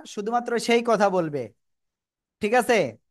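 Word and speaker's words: ب: ঠোঁটের ভিজা অংশ থেকে তাহলে বা অক্ষর কোন জায়গা থেকে উচ্চারণ হবে দুই ঠোঁটের ভিজা অংশ থেকে বা অক্ষর উচ্চারণ হবে সবাই মুখস্ত করেন দুই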